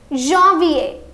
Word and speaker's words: janvier: It is pronounced in French as janvier. Janvier.